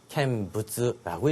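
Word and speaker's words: 見物: 어떤 물건을 본다라는 말에 요 놈은 견물이라는 표현은요, 음동요소로 캔부츠라고 읽혀주면 되겠습니다.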